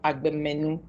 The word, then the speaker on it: Agbemenu: Albert Selom Agbemenu, PMP, is alumni member of LIMC, is a